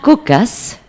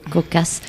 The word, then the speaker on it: Kokass: invité de ce soir cocasse donc ça se prononce comme ça oui cocasse une artiste qui explore